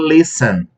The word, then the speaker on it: listen: O que não acontece, por exemplo, o verbo listen. Reparem que o verbo listen, a sílaba tônica é a primeira.